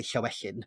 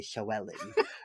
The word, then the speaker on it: Llywelyn: So Llywelyn, we don't say Llywelyn, we say Llywelyn.